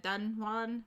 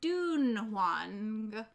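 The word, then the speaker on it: Dunhuang: um because it's pr it's spelled d-u-n-h-u-a-n-g so i said done one but i think somebody said it's supposed to be like more like dune wang so i i don't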